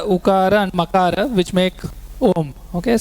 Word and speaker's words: Om: and Makara which make Om. Okay, so there are three sounds there. Akara, Ukara, Makara, which becomes Om.